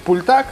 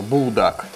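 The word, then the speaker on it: 불닭: Всеми вами любимый, ну, правильно говорить пультак, но у нас она обычно называется булдак.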